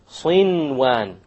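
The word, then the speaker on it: صنوان: Likewise, sinwan. No idgham. There's a noon sakin followed by a waw. Sinwan, sinwan. You pronounce the noon.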